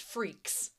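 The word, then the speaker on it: Freecss: But also with the CSS on the end, it spells freaks. It's pronounced freaks.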